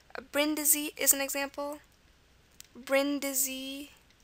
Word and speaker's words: Brindisi: Brindisi is an example. Brindisi, E. Okay, at the end, it's an I here. It can also be pronounced Brindisi, so it could be, you know, an E sound there.